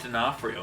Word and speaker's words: D'Onofrio: Okay, but you just said the phrase Vincent D'Onofrio, and I'm glad you were able to pronounce it correctly, because our next category is actually Best Mispronunciation.